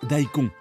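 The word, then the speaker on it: daikon: cause ce radier vers son nom signifie grosses racines et se prononce dahico le décor est planté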